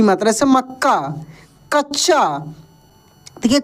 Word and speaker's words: मक्का: उसके बाद देखेंगे दोस्तों यहां पर लिखा है प्रसन्न प्रसन्न न पे क्या लगेगा जोर लग रहा है तो प में पदेन र की मात्रा स और नन संयुक्त यानी जिस अक्षर पे जोर लगता है वो उसमें आधा और पूरा वही अक्षर होता है जैसे मक्का मक्का हम